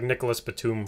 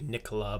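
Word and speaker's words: Nicolas Batum: names yeah yeah because it was like nicholas batum for the longest time and then apparently you know it was supposed to be nicola but he didn't care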